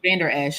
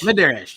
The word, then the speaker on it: Vander Esch: I can't pronounce his name. I forget his name. And then you got Vander Esch. Vander Esch.